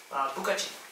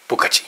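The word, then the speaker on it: 不客气: Bukachi. Bukachi. Oh, I can remember that. Bukachi.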